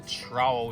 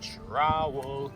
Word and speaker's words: trowel: and that's called a trowel with a t trowel kind of rhymes with towel but it's an r in there found something to show